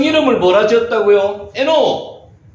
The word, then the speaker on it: 에녹: 에노키라고 읽기도 하는데 이걸 빨리 읽으면 에녹, 여기 받침을 넣어야 되면 에녹.